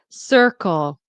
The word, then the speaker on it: circle: Circle. Stress is on "sir" and circle.